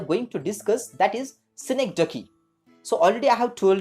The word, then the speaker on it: synecdoche: Remember the pronunciation of this particular word, that is synecdoche.